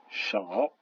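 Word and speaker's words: 少: AO, qui se prononce ao, par exemple le mot qui veut dire peu, chao.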